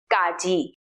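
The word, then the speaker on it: ကကြီး: with consonant number one gaji that is pronounced C it sounds something between the English K and the English G like the k sound in category but the best way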